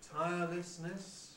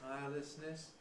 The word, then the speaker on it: tirelessness: about the schwa one tirelessness with listness tirelessness but another and perhaps now the more usual one is with a tirelessness tirelessness both are correct but we seem to